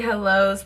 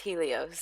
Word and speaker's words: Helios: is the first step this is the ghd hellos professional hairstyler i literally knew i would end up mispronouncing this it's pronounced helios and i'm going to use it just to